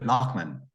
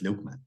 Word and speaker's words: Loughman: it was funny because lman is how my name is spelled and pronounced but a home in TI areia it's lukeman okay okay okay so